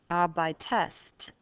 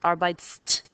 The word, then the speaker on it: arbeitest: Adding a linking E merely helps you pronounce it. Arbeitest instead of arbeitst, or ihr arbeitet instead of ihr arbeitet.